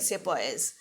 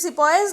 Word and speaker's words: sepoy: The British army included European soldiers and the Indian sepoys. Now sepoy here was the pronunciation which was made by the Britishers for sipahi.